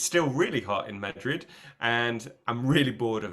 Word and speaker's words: Madrid: find it so strange oh maybe I say mad M Madrid yeah I I don't say it in Spanish yeah maybe I say Madrid M Madrid Madrid yeah no I don't put the accent on the beginning yeah you do keep